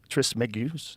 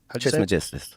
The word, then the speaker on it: Trismegistus: Though attributed to the legendary Hellenistic figure Hermes Trismegistus. How do you say it, bro? Trismegistus.